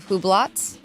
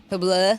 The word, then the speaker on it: Hublot: I can't spell it. Huracan EVO. Rolex. You know how to say is it Hublot? Hublot? Hubla.